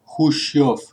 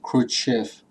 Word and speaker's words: Khrushchev: was extremely humiliating for the Soviets, especially for Nikita Khrushchev. By the way, in Russian, it's pronounced Khrushchev, not Khrushchev.